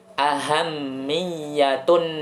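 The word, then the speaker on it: أهمية: Ahammiyah, ya, mimnya ada tasydidnya, kemudian ya-nya juga ada tasydidnya. Ya, cara membacanya ahammiyatun nasihah, artinya pentingnya nasihat.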